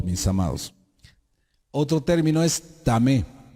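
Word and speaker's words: טמא: Otro término es tamé.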